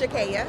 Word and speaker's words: Shakaya: Yeah, so it's pronounced Shakaya. Okay. And it is Italian. It was originally spelled with an IA, and my mom switched it to a Y.